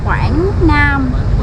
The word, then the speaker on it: Quảng Nam: Quảng Nam.